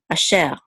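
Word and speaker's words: אֲשֶׁר: And then we have an aleph with a chatef patach. This is a. And this is a shin with a sigil, which is e. So this is she. And this resh closes at the last syllable, which is sher. Asher. That or which.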